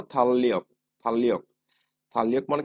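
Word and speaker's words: 달력: এখানে আমরা কিন্তু থাল রিয়ক ক্যালেন্ডার। উচ্চারণ করব না। কি করব উচ্চারণ আমরা? থাললিয়ক।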